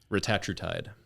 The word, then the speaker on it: retatrutide: Retatrutide.